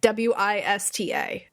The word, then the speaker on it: Worcester: It's like, I swear to God, if you're not from the Northeast, it is pronounced Wista.